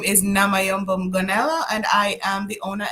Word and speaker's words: Namayombo Mgonela: introduced yourself to us then with your proper pronunciation okay so good night everyone my name is namay ganella and I am the owner and creative director